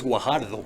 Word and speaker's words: Guajardo: Oh, yes, that's Guajardo. Guajardo, okay, yeah.